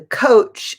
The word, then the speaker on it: coach: But back to the pronunciation, the couch is what you have in your living room. The coach is the person who heads the team.